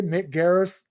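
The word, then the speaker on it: Mick Garris: see if you can I say it okay Mick Garis correct said it correctly I think it's uh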